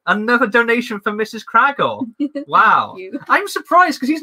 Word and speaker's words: Kragle: It's pronounced Kragle, not Krangle.